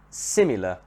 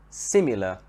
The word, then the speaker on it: similar: the second syllable the word similar similar here the stress is at the beginning similarity similarity the stress